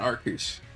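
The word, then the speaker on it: Arceus: How did you know I meant Arcus? That is the correct pronunciation.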